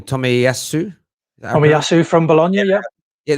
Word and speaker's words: Tomiyasu: I now how to forget how to pronounce his name. Tomiyasu.